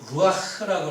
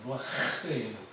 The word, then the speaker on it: 루아흐: 심령이, 마음이, 영이 병을 이길 수 있다고 얘기를 하는데 여기서부터 사람의 심령, 이 심령은 히브리어로 루아흐라고 합니다. 히브리어 발음이 좀 어렵습니다. 루아흐예요. 약간 긁는 그 음이 끝에 나오거든요.